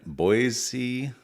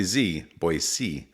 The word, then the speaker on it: Boise: our new studio here in boyy Idaho not boy boyc Idaho so you're acting like